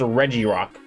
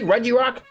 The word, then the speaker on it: Regirock: ice and Reggie Steel I still can't believe people don't think don't think it's pronounced Reggie Rock doesn't think anime say Regirock and the other ones